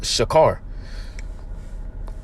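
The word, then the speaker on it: שכר: In the Hebrew, it's pronounced shakar.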